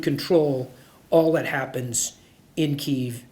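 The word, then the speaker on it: Kyiv: all that happens in keev and in Ukraine or the Russian pronunciation in Kev uh so control by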